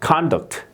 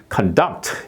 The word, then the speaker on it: conduct: 드리면 아 이거는 이제 명사일 때는 이제 con 이렇게 돼요 그죠 conduct 이렇게 되는 거고 그다음에 이제 동사 때는 conduct 이렇게 되는 거죠 conduct 이렇게 발음이 되는데 이거 같은 경우는